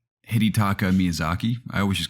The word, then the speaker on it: Hidetaka Miyazaki: who know how to pronounce it or correctly pronounce his name i think it's hidetaka miyazaki i always just call him miyazaki reveal that